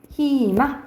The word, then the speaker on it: 희망: 이런 식으로 자음이 있어요 이런 식으로 자음이 있으면 무조건 뭐로 발음해야 되면 2로 발음해야 돼요 희망 이렇게 발음을 해야 돼 이렇게 생각을 하시면